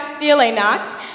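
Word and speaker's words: Stille Nacht: thanks dog so now I'm going to announce steel a knot which is silent night in German a couple years ago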